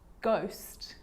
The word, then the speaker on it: ghost: The H is silent. So it's choir, choir, echo, echo. With a G, ghost, ghost.